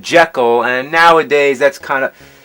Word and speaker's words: Jekyll: you know that the proper pronunciation is jekyll that's what the author of the novel insisted robert louis stevenson but